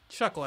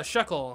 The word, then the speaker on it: Shuckle: get the next Evolution so I can stop mispronouncing this name honestly come here chuckle think yeah Shuckle ha I got a Pokemon name right yeah